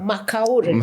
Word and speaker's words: McOure: McOure. That's how you pronounce.